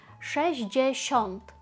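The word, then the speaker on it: sześćdziesiąt: Воно виглядає насправді складніше, ніж читається. Шещнт. Ми маємо цифру шестьщ і вона тут присутня повністю. Шещ і далі 10. Десяток 5 7. Всюди є 10 j.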